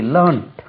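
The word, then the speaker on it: learned: சொல்லலாம் இதுக்கு உச்சரிப்பு ஆப்ஷன் லேர்ன்ட் லேர்னிட்னு ஒன்னு இருக்கு அது adjective L இ ஆர் என் இடி லேர்னிட் ப்ரொபசர் பி ஆர் ஓ எப் இஸ் எஸ் ஓ R spelling check பண்ணுங்க ப்ரொபசர் லேர்னிட் ப்ரொபசர் இது லேர்ன்ட் ப்ரொபசரோ லேர்ன்ட் ப்ரொபசர்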